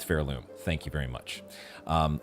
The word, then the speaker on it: Pharloom: And yes, I know somebody in the comments pointed out to me that apparently there's a different pronunciation that um most everybody else uses. I'm sticking with Fairloom.